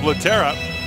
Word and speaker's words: Lehtera: Lehtera is a Finn who has changed his pronunciation to a more North American version of Lehtera.